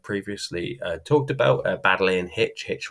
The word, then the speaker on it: Hitch: Baddeley and Hitch rhymes with pitch, who plays on pitches, rugby players, but also Schmidt et al.